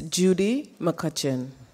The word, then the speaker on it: Judy McCutchen: announced good morning everyone for the correct pronunciation of my name it's Judy McCutchen so I'm going to